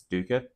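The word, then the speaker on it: Duiker: D's story and yes that pronunciation is wrong I believe St aric says it's Dua but it's d i c k r and that will forever be daa in my brain I'm sorry then one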